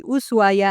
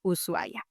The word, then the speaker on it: Ushuaia: But the proper one said by the locals is the one without the huay because in Spanish technically we don't pronounce the h when it comes after an s.